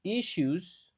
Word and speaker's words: issues: And I always try to approach issues. Approach. Nah, ini ini kata yang susah pengucapannya. Approach. Issues. Ini ada Y-nya. Jadi kalau double S itu biasanya dibaca sy issues calmly.